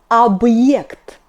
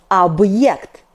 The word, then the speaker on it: объект: For example, объект, объект. Be attentive, not объект, but объект. B is hard, like in boring.